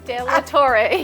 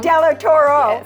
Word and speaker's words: De La Torre: I'd say her last name but I always pronounce it wrong de Tor yes thank you she I always say Del Toro I don't know Toro bull right and she